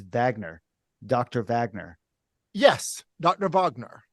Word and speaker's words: Vaigneur: assume in Canada a lot of people would pronounce her name van but it's not pronounced that way right it's Vagner Dr Vagner yes Dr Vagner okay okay just